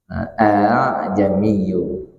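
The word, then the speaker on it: أأعجمي: Tapi kalau yang di Fussilat ini harus bacanya begitu. A'jamiyyu.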